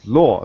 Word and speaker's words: Lao: nice to see you my name's pronunciation is law like a w law all right good thank